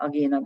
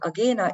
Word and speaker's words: Agena: Now, Venus is at the moment aligned with Agena or Agena, probably I'm going to call it Agena because this is how we pronounce it here in Hungary. And Agena is the beta star